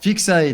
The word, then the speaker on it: Fixae: Donc, au niveau de la prononciation, c'est Fixae. D'après vous, on accentue sur ouf. Et s'il vous plaît, quelqu'un que je n'ai pas entendu. Vas-y, Taro. Sur ça y est. Sur Xae, exactement.